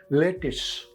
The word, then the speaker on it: lettuce: neither lettuce nor letters it is simply lettuce very unusual you gives you the sound of I that is e lettuce yes sometimes you